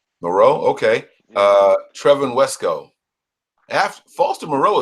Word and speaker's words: Moreau: How do you say that last name? I'm not French. Moreau.